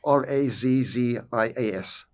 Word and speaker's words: razzias: In the Netherlands, they were known as razzias. How do you spell that? R-A-Z-Z-I-A-S. It's pronounced like the Italian way, razzias.